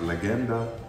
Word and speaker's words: Legenda: I think I think it's a hard G right legenda not legit and the